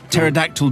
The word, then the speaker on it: pterodactyl: Why can't you hear a pterodactyl dinosaur go to the toilet? Because it has a silent P. Because it's written P pterodactyl.